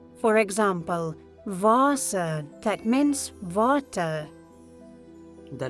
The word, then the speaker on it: Wasser: In German, W is pronounced as V. It sounds like V in English. For example, Wasser, that means water.